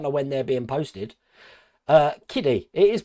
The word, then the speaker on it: Hachette: Kiddie. It is pronounced Kiddie, is it?